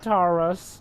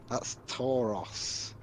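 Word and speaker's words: Tauros: the actual sign Taurus the O is pronounced a bit differently than the U but yeah that's pretty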